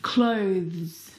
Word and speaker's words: clothes: clothes. Clothes clothes. Now, the reason why it's especially difficult is because of the two final consonant sounds, the th and the zz plural sound.